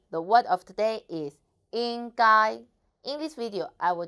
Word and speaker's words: 应该: hello I'm the word of today is in guy in this video I will teach you how to pronounce it how to write it and how